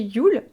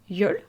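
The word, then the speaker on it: jól: accent aigu l et qui se prononce donc à peu près de la même façon c'est pas tout à fait Yul c'est Yol avec un un E qui est entre le E et le ou pour être très très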